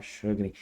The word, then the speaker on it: Sjögren: A síndrome de, eu tenho um hábito de chamar de síndrome de Shugring, porque teve uma vez um professor meu que falou que a pronúncia correta era essa. Eu não sei se é essa a pronúncia correta, então pode falar jogring, pode falar shugring, jugring, como quiser. Se eu falar shugring, é força do hábito, tá?